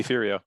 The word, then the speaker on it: Deferio: Deferio.